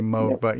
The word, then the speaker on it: Moog: Moog, actually, it's pronounced right, Moog. We say Moog here, but it's actually Moog.